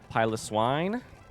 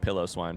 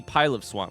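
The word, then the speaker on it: Piloswine: Pilot Swine, which I definitely, speaking of mispronouncing names, by the way, I definitely called Pillow Swine for a while. Despite the fact that it is not pronounced like pillow, I definitely called it pillow swine.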